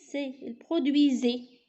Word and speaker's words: produisait: يعني il produisait. S كنكتبوها entre deux voyelles كنطقوها بحال Z. Il se prononce comme Z.